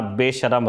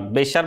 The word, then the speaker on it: बेशरम: शाहरुख खान की फिल्म में पठान, उस फिल्म का गाना बेशरम रंग, बेशर्म नहीं बेशरम।